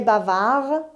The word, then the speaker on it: bavard: de manabi adapco store bavard bavard il est bavard dhainaut se prononcent pas elle est bavarde bavard 12 134